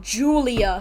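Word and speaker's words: Giulia: We get Julia, spelled with the G for some reason.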